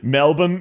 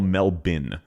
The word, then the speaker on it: Melbourne: Melbourne. Yeah, we we don't say Melbourne. We say Melbourne or Melbin. And that's not a dig. That's just how we pronounce it.